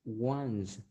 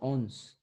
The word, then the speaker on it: once: Then the other one is once. Once, no ons. Once.